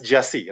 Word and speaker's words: Gyasi: Now, why I'm told it's pronounced as Jassi, right? It's Jassi.